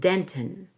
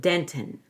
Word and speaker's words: dentin: Past enamel and dentin. Past enamel and dentin. Dentin could be a clear T or no T. Dentin, like a held T. Either way.